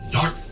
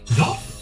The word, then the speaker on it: Dartford: it a bit, especially because I've never once heard the R pronounced amongst anyone around me, because it's not pronounced. The name of the place is Dartford.